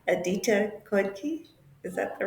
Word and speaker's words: Khodke: make sure I say this correctly a detailed code key is that the right pronunciation okay yes so it's yes and